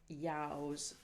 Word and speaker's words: ewes: And her best known work is Call the Yows, Tay the Nows, which means call the sheep to the field. The female sheep, EWES, is pronounced yows in Scottish.